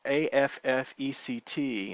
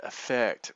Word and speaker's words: affect: So when we're talking about this word in that way, AFFECT, instead of pronouncing it affect, we pronounce it affect.